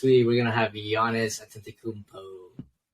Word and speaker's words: Giannis Antetokounmpo: So this week, we're going to have Giannis Antetokounmpo. That's how you say his name.